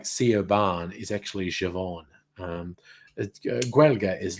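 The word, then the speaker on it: Siobhan: name that looks like ceo barn is actually javon guelga is like that so um uh safa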